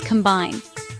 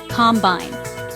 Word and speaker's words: combine: Our final word for today is combine. To combine means to mix or join two or more things together to make a single new thing.